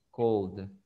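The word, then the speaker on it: called: Entonces, cuando usted dice call, tiene vibración, entonces se pronuncia nada más la letra D. Y usted dice cold.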